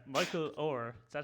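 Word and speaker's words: Oher: So it's Michael Orr. Is that how you say it? Orr? Or Yeah. Or Or like in a boat. like you row a boat.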